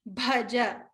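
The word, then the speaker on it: भज: Hridi bhaja. Stress on the Mahaprana bha.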